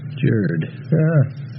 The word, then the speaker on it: Jord: How do you pronounce W-O-R-D? Word. J-O-R-D. Jerd.